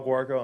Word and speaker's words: Guarco: Garacco. Okay. Chair calls Garacco. And then after you, we'll have Joe Bernay, John Finley, and Leonard Perez. It's pronounced guacamole. G-U-A. All right. So, Guarco, I'm here representing myself.